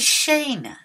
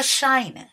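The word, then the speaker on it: שיין: pas comme tu fais on dit Shane pas Shy'm mais là un autre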